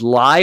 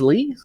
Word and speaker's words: Ly: up with a fairy named lie or lee it's spelled l-y and i'm not i couldn't figure out i think it's lee i'll say oh yeah